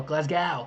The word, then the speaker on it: Glasgow: to hear question 23 can you pronounce glasgo glasgo glasg go Glasgow Glasgow glasg go Glasgow there's both ways question 24 when are